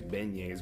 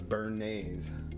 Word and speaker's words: Bernays: I always want to say his name is Beignes, but it's Bernese. B E R N A Ys.